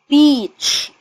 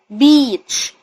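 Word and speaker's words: beach: بيجوا ورا بعض كده بيديني صوت الايه الطويل انطق الايه باسمه شاطئ يعني بيتش بيتش وخلي بالك ما بطلعش هواء في البيع عشان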